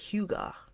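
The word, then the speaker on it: hygge: to have something that's Huga we want something that's Huga Huga is spelled h y g g g e but then the feeling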